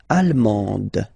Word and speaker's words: allemande: L'Allemagne, allemand, allemande. Okay, same thing here. En, okay, you don't pronounce the final D, but then you pronounce it here for the feminine form.